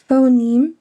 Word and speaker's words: phoneme: Phoneme would be like pho, neme. That's how you would pronounce it.